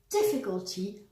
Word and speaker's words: difficulty: As an example, if we take the adjective difficult, stressed on the first syllable, and change it into a noun, we end up with difficulty, also stressed on the first syllable.